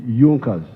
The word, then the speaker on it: Junkers: However, there was a strong business group in Prussia known as Junkers. It is written Junkers, but they pronounced pronounce it Junkers.